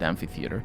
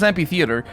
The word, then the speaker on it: amphitheater: gentlemen and beautiful people keith ballard is responsible for me saying amphitheater because he says happy theater and the last time the last few times i heard the word and even thought of the word it because he says it and i'm like in my in my soul i'm like no it's ph and i don't say